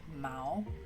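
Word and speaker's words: 毛: So for a cat, we said mao, and then fur, like the cat fur is mao. So you go up like mao.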